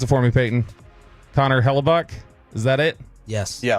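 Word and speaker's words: Hellebuyck: Uh Connor and then pronounce it for me Payton. Connor Hellabuk.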